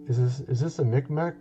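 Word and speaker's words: Mi'kmaq: this is the is this is this a mcmac mcmuck how do you say it i think it's uh i'm trying to remember the tribe's name oh yeah here we go mcmack this is who it is mcmack tribe these guys their letters or hieroglyphs are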